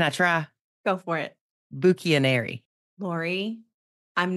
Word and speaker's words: Bucchianari: to try can I try go for it buuk anary Lori I'm not even flattering you here I've got lifelong friends who who don't pronounce it that beautifully you nailed it really